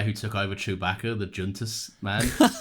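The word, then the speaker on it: Joonas: took over Chewbacca the junus man oh he's definitely Scandinavian junus yeah oh yeah Jun as if I just pronounced the Jay I know you always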